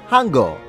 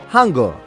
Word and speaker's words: Hangul: The first block makes the sounds h, a, and n, forming the syllable Han, which in the Korean language means great. Now let's put together its second half with g, e, o to say geul, which translates as script.